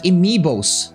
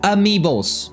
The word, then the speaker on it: amiibos: when you have like amibos how did I pronounce that amiibos like I have these cards